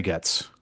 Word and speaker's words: Goetz: Cari Goetz. Whatever Cari wants, Cari gets. She made that joke. Yeah, it's a good reminder of how to pronounce her last name, Yes, it which is a I always good.